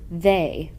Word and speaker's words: they: to this rule is e y sometimes makes long a sound like the word they the word should be